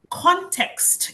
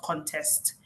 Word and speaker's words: context: Context is how to pronounce it. Not contest. Especially they both mean something but in the context that the person was saying it it was to be context and not contest right contest means to compete